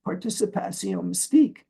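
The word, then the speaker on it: participation mystique: Bru's related concept of this pronounced in French as participa Mystique there's a mystical participation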